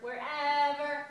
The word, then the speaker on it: wherever: and where and when you hit the second syllable on whenever and wherever whenever wherever and what and where